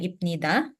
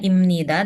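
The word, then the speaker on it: 입니다: bunyi m ya Jadi ini bukan bacanya ibnida tapi jadinya imnid bacanya imn bukan ibnida ya Oke jadi memang kalau dalam bahasa Korea untuk orang Korea sendiri itu banyak memang beberapa kosakata yang Kalau bertemu antara satu huruf dengan huruf lain itu dia dibaca lain karena salah satu faktornya sih karena dari mereka itu sulit untuk ucapkannya Oke jadi ini dibacanya imnida dan imnika ya bukan ibnida dan ibnika Oke bisa dipahami ada lagi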